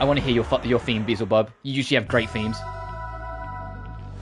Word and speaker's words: Beelzebub: And I am saying Beezle, not Beelzebub, because look at how it's spelled. They spell it B-E-E, as in like Beezle, not Belzer.